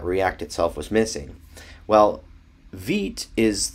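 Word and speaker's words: Vite: point out is uh Veet and it's spelled v-i-t-e but it's actually pronounced Veet and this would be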